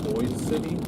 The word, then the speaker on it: Boise City: Boise City it's pronounced Boise City. Oh, okay, that doesn't really make any sense, but alright. You know, like the AirPod or the headphone company Bose? Yeah. Kind of like Bose City.